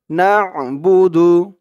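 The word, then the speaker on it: نعبد: হবে ইয়াকা আল্লাহ ইয়াকা নাবুদু না এই দন্তান আকার না এখানে আইনের উচ্চারণ হবে না বুদু নাবুদু আল্লাহুম্মা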